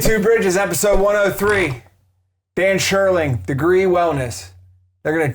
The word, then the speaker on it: Scherling: Sherling. Spell am I pronouncing that right?